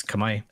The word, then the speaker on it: Khmer: I thought it was Khmer for the longest time. People tell me it's Kamai.